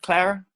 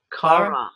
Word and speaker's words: Cara: Is it Clara? Cara. Am I saying Cara? There's no L. Cara. That's what I thought.